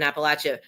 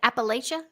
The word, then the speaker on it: Appalachia: Appalachia. It depends on where you're from. Appalachian.